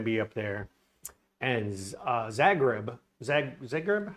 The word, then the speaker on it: Zagreb: Zagreb?